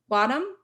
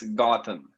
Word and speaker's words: Gotham: Is it Bottom? It's pronounced same as Batman City, so it's Gotham.